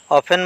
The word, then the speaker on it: অফেন: টি silent বর্ণ open অফেন মানে প্রায় ইয়াতে টি সাইলেন্ট বর্ণ কিচেন কিচেন মানে রান্ধ্বনি